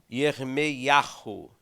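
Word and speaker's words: ירמיהו: Jeremias, que pronuncia em hebraico mais ou menos assim, ó, Yermeiahu.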